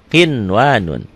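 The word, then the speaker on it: قِنْوَانٌ: Karena ketemu satu kalimat, satu kata, dia menjadi idhar mutlak. Dibacanya apa? Kinwanun, ya. Qinwanun.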